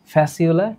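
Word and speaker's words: Fasciola: ফ্যাসিউলা tinea উচ্চারণ কি করবা?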